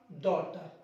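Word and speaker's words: daughter: बॉय का girl Sam डॉटर इसको डॉटर पढ़ेंगे ग को साइलेंट करेंगे जहां पे भी ग मिलता है ना साइलेंट करना इसको पढ़ेंगे डॉक्टर डॉक्टर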